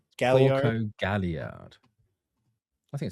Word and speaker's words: Galliard: In fact, his name's Galliard. Oh, I thought you were saying Gallio, and I was like, okay, sure. Galliard.